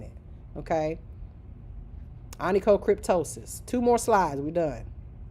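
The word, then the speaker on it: onychocryptosis: So, just re recognize the words and associate them to how I'm pronouncing it. Okay? Anico cryptosis.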